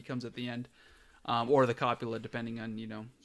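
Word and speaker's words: へ: This one's pronounced e, even though it's a he, and then ne, and more.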